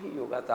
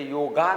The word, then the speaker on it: योग: spelling तो भाग वेगळा इथ सुद्धा वायजी अस स्पेल करायची गरज नाही ते वाय आहे पण ते योगा नाही त योग आहे आपल्याकडे संजोग असा हिंदी